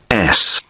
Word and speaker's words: Lewes: You don't pronounce the S. Carlisle Way. And that's in Lewes. Lews.